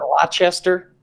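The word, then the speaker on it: Leicester: just gotten some people telling us how to pronounce their their uh team names most recently and then good Lester Lester and Brigton H Al that's how it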